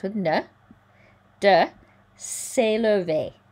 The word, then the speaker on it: s'élever: C'est à l'humanité de, rhymes with ne, de s'élever. A, there's that sound again, we've seen several times. S'élever, rhymes with réparer.